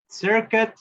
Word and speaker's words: circuit: Miren, para esa, cuando lo quiero pronunciar, circuit, ya no digo la U. No digo circuit, ¿verdad? No. Circuit. Circuit. Circuit. Y con K, ¿verdad? Más hacia la K.